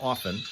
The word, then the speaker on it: often: R in February and leaving the T silent and often as I always have and welcoming all of those who join us uh today on National Quiet Day today.